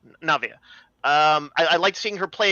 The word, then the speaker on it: Navia: Navia. Navia.